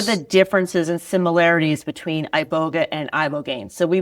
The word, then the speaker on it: iboga: That's a good topic because people um a lot of times will address as I you know and and it's pronounced ibogga ibogga.